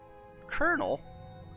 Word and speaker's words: Colonel: be really weird, since it's pronounced more like there's an R there than an L.